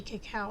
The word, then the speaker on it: cacao: chocolate it's 85% uh cacao and um now sometimes you may hear me say cacao and some of you may say Coco because there are there is a difference and I'm purposely saying